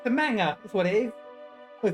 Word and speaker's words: manga: It's a manga. That's what it is. Was it a manger? How do you pronounce it? That's how Natsuki pronounce it. Manga.